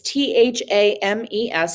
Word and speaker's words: Thames: to spell that it's t-h-a-m-e-s it looks like fames but it's thames um and your architects